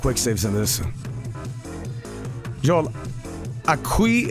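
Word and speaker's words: aquí: Aqui is pronounced Aki. It's Spanish for here.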